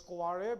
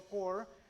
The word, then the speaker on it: CORE: And archiving research environment you can pronounce it as kaware but we prefer core and also this facility